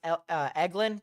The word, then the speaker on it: Eglin: It's pronounced Eglin.